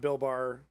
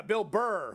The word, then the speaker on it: Bill Burr: Yeah, not Bill Bar, right?